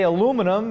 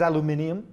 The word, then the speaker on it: aluminium: and some say Nissan we say aluminum in the UK says aluminium we say elevator others